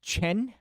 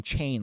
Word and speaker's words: Chen: So it's pronounced Chen, right? So there's no I that I pronounce. It's just Hansen Chen, like that. So I'm saying Hansen Chain like a retard.